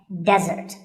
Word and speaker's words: desert: not be confused with desert here the stress is on the first syllable which is de desert now i said that